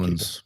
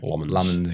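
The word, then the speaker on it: Lammens: Um and I think that's what you want from Lemons. I've got that pronunciation right. Lemons.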